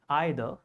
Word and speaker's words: either: You may call it either or either. Both are correct, just depending on American or British pronunciation.